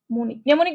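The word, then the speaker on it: mnemonic: পরেই দেখবা সেটা কিন্তু কাজে লাগতে পারে আচ্ছা নেমনি বানটা একটু দেখতো নেমনি উচ্চারণ ন দিয়ে হচ্ছে কিন্তু শুরু কিন্তু এম দিয়ে হইছে।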